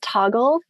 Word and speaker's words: Toggl: There's an app called Toggle. It's spelled Toggl, I believe.